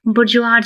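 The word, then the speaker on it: bourgeois: यहां पे देखिए कैसा इसका प्रोनाउंसिएशन होगा। बुरज दैट मींस द हेल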